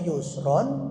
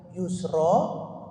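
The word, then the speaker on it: يسرى: benar ada yang bacanya Yusro ada yang bacanya Yusron nah baik untuk membaca yang Yusro itu wakaf berhentius gak boleh Ron tuh ingat itu ingat engak boleh Ron Kenapa Anda bacanya waq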